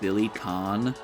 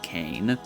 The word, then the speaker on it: Billy Kane: I know it's pronounced Billy Khan. you. I'm going to keep saying Kane.